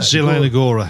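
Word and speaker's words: Zielona: Liga match between Sparta Rockclaw and Can you pronounce that? Zilona Zelona.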